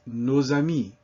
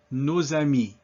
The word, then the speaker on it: nos amis: But if we say our friends, as before, that S is now pronounced, and it's nos amis. Répétez, nos amis.